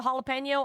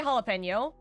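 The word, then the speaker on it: jalapeño: especially Kairens, always say jalapeno because, you know, they think that the J is pronounced with the J sound instead of jalapeno.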